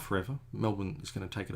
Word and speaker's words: Melbourne: It's not Melbourne. Forget the born. It looks like it's born, but it's not born. Don't say it like that.